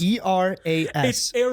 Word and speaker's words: Eras: be popis AIS tour Iris e r Aris e r a s so Aras Aras but I think people pronounce it ays whatever it is it's eras but I I've always heard people pronounce it the erys tour right so listen Taylor Swift's billion doll